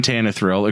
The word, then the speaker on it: Tannehill: You mispronounced his name. Ryan Tannehill.